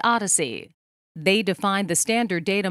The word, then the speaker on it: OHDSI: sciences and informatics or ohdsi pronounced odyssey they define the standard